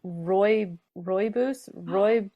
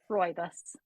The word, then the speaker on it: rooibos: What is a rooibos? Yes, that's a great question. Can someone tell me how to say this? Rooibos.